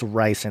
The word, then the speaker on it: ricin: Oh, it's ricin.